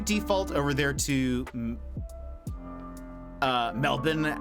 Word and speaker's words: Melbourne: uh so that's why a lot of Americans say Melbourne um but I've I've had to learn to say Melbourne and again I lower